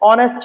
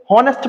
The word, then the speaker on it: honest: कि जो ऑनेस्ट है, इसे बहुत से बच्चे क्या प्रोनाउंसिएट करते हैं? हॉनेस्ट पढ़ देते हैं। क्या पढ़ देते हैं? हॉनेस्ट, जबकि एक्चुअल में क्या होता है? ऑनेस्ट। HONEST, ये क्या होता है बेटा? ऑनेस्ट होता है।